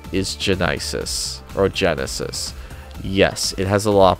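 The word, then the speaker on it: Genisys: did with terminat genisis or they they say Genesis but it's pronounced it's like spelled differently and so I always like jokingly say genisis uh they redesign the T800 a little bit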